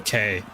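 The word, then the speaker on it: Kei: Is it K or K? Probably KZ1 and B are meant to be sports cars under the strict regulations. Okay. The APC group as they're called pronounced K.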